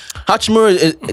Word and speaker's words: Hachimura: Hachimura, they go as far as how he performs.